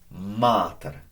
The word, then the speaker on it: mater: Mater. Long A. Again, there's the vowel marker. Not mater, mater. Little longer. Mater.